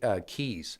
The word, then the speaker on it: Cays: It's pronounced Keys, Yes. but it looks like Cays.